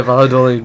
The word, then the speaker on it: Valladolid: Valladolid. Valladolid. In English we say Valladolid, but in French people don't really like to pronounce their L's.